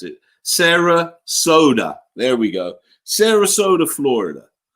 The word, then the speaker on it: Sarasota: I do have a footage coming out of Saratoga. Oh God, I can't pronounce it. Sarasota.